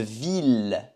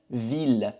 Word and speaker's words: ville: c'est féminin, et une ville. Ville, on prononce le L, ville, ville.